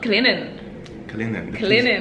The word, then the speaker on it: Clinton: Also, Clinton. The T is silent.